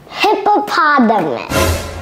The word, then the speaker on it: hippopotamus: Cody, can you please help everybody pronounce this word? Hippopotamus.